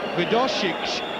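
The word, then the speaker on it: Wdowczyk: the new signing, Dariusz Widosic. I do believe that is how you pronounce his name.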